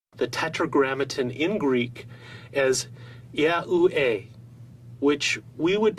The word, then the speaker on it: Yahuwah: When these letters for God's sacred name are pronounced out together in their vowel forms, they would be pronounced as Yahuwah or Yahuwah.